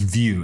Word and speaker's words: Vue: is called view Jas and view Jas is pronounced just view as in V iew it's an open source